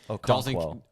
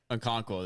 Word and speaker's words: Okonkwo: Okonkwo. Okonkwo, there you go.